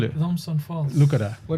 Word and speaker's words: Thomson: way because keny Kenyan always pronounce keny pronounce every single letter what is it called Thomson not Thompson no no Thomson I'll